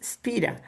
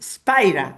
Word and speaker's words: Spira: that his original name, osea the the the pronunciation is Spira, but that many many all the English speaking people calls him Spider.